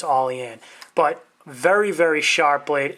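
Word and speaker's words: Olean: York I believe it's all e Ann as it's pronounced my New York brethren can correct me on that if I'm wrong I believe it's all in but very very sharp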